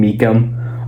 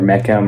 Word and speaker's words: Meekum: saying my last name, Meekum. Obviously, easy to say, but saying Meekum, a lot of times they say Meechum or Meckham or Meckham. People pronounce it really bad.